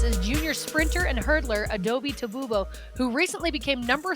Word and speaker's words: Adaobi Tabugbo: It's pronounced Adaobi Tabugbo.